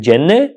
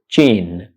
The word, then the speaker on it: gene: Do you pronounce it jenne? How do you pronounce it? Is it pronounced jenne? No, it's not. The correct pronunciation of this word is jean, jean, jean, jean.